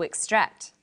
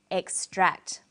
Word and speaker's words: extract: on the second syllable extract but e ex t r a c t is also a noun when it's a noun it's pronounced extract the emphasis is now on the first syllable and this pattern of